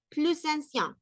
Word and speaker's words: plus ancien: Y en ese caso sí voy a pronunciar la S, que diría ce logement est plus ancien, plus ça, plus ça, plus ça, plus ancien. ¿Por qué? Porque en este caso sí hay cómo hacer liación, cómo hacer unión de una consonante final con una vocal de la siguiente palabra, ¿ok?